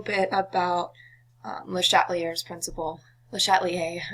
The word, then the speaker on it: Le Chatelier: Le Chatelier, I always pronounce it wrong. I'm not French, so I don't have the not pronouncing the R down yet, but yeah, it's Le Chatelier.